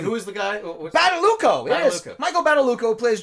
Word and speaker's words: Badalucco: How the hell do you pronounce this guy's name? Who is the guy? Badalucco.